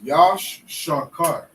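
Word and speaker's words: יששכר: And how you say Issachar in the Hebrew is Yash Shakar.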